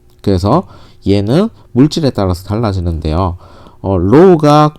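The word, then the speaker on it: ρ: low가 큰 물질은요, 비저항이 큰 거니까 얘는 부도체 계열이고요.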